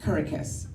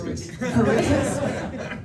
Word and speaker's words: Kuritzkes: me another chance give me another chance Justin kurus no kitus kitus when I tell you I landed that so